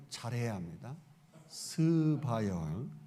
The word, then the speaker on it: 스바: 큰이가 있느니라 여기 남방 여왕은 스바 여왕을 말해요 발음을 잘해야 합니다 스바 여왕 어 제가이 스바 여왕을 커피의 여왕이라고 부르는